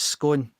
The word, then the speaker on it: scone: once you know i always thought it was scoring and isn't it scone i was devastated when i heard that that was the right way to say it so so scone is